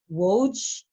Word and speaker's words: Woj: But with regards to Woj, did I say it right? Watch. No, you had it right the first time.